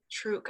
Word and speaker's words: Truk: And you pronounce it truck, is that correct? It's true. Truk.